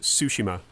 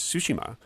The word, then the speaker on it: Tsushima: Ghost of Tsushima. And that is how you pronounce it.